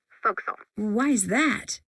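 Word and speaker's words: forecastle: ship but it's pronounced Folk Soul why is that try pronouncing it like an English sailor with no formal education Castle overtime at whittled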